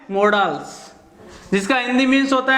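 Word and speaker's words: modals: मॉडल्स क्या है? मॉडल्स। देखना, मॉडल्स जो शब्द है उसका प्रोनाउंसिएशन हम करते हैं मॉडल, जबकि रियल में होता है क्या है? मॉडल्स, जिसका हिंदी मीन्स होता है मनोभाव, मन के भाव।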